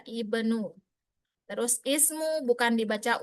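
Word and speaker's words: ابن: Jadi kalau ketemu dia bukan dibaca ibnu, bukan dibaca ubnu, tapi tetap dia ibnu.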